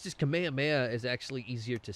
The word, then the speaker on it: Kamehameha: But obviously, when the Japanese read it, and when the English read it, they put the ha, because that's how that is written and phonetically spoken. If I'm not mistaken. The Kamehameha.